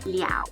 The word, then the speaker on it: 了: is to use love the second pronunciation of this little squiggle is liao so same squiggle but pronounced liao and has a different